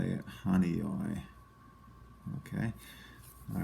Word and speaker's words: Honeoye: This one is called, I believe it's pronounced Honeoye. Honeoye. I apologize if I'm mispronouncing any of these, but I think that that's how you say it, Honeoye.